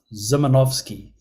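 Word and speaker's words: Szymanowski: guess ladies and gentlemen is this name is pronounced zimanovski so I'm gonna pass the microphone over now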